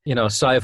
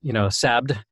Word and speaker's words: Sadhbh: So every now and then you will find things out like, Sive O'Riordan actually grew up in Texas, and so, even though her name is spelled Sadhbh, her parents actually pronounced it, Sabd or something, because they're from, she's got this accent.